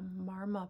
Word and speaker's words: marma: The nail beds on the fingers here are a marma point. Marma is spelled like mama with an R.